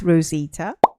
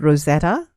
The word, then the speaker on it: Rozitah: My name is Rosita. Now, unfortunately, I've had various mispronunciations to my name. I've been called Rosetta, Rojita, or Rosetta, thanks to Siri. And as far back as primary school, I've even been called Roti Prata.